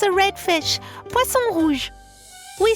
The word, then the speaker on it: poisson rouge: Well, there is one I particularly like, le poisson rouge.